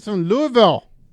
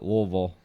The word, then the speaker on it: Louisville: California freaking California Ethan Louisville Louisville Louisville all right I said it right Louisville you gotta kind of move all kind of gotta say it like you're drunk yeah so basically I